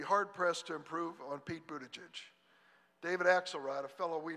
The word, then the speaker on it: Buttigieg: I'm going to try to pronounce it, Pete, one time, and then from then on it's Mayor Pete. Buttigieg?